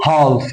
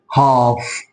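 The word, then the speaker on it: half: الاف يبقى مش هينط مش هيتنطق ف مش هقول هالف لا هقول هاف هاف هاف هاف هنا حرف الل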